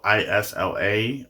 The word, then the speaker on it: Isla: our main character ILO I say Iowa instead of Isla like a lot of people been saying because I don't know I think of the actress Isla Fisher and her name is spelled i-s-l-a like the main character in this book so I'm saying Isla uh she's wanting to